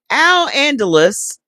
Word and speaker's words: Al-Andalus: Al-Andalus, Moorish Spain, was one of the most significant civilizations in European history. I'm sorry, let me say it again because I remember Andalusian horses. So that's pronounced Al Andalus.